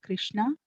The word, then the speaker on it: Krishna: The words Hare pronounced Hare, Krishna pronounced Krishna, and Rama rhymes with Rama are Sanskrit words.